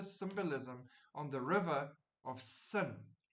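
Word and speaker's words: Seine: the river of sin pronounced sin in English not s sin isn't that interesting donning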